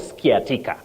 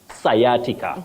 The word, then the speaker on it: sciatica: pagant your last word sciatica sciatica not ska sciatica so get it right we